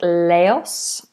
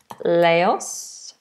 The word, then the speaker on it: Laos: And I think this is pronounced Laos. Laos.